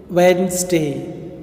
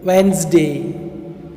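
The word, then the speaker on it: Wednesday: தென் வென்ஸ்டே. வென்ஸ்டே, வென்ஸ்டே. இந்த எஸ் வந்து Z sound மாதிரி நம்ம உச்சரிக்கணும்.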